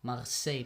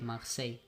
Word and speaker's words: Marseille: Marseilles Marseilles, that's how you pronounce it in France.